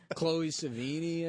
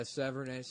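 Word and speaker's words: Sevigny: Because I always thought it was Chloe Savini. I guess it's like Severnay, maybe? yeah, Severnay.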